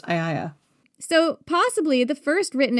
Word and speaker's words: Aeaea: Well, it's actually Iaea is how it is how it's pronounced. Iaea.